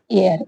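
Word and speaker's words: heir: एयर। एयर की spelling क्या है?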